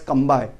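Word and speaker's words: Cambay: Actually, name of this is Khambat, but in English we are pronouncing as Kambai.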